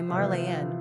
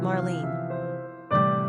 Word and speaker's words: Marlene: When it comes to the pronunciation of Marlene, the Germans say Marlene, while the English cut the name to two syllables, Marlene.